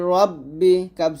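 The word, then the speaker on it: رَبِّكَ: রব্বা জের বি ফাসলি রব্বি কাফ জবর কালিব্বিকা নুন কে ধরবেন জবরহার জবর তাহলে একসাথে হবে এইটা উচ্চারণ করতে গেলে যেন হার না হয় এটা বলতে হবে চাপ দিয়ে আবার রাব্বিকা একসাথে তারপর হামজা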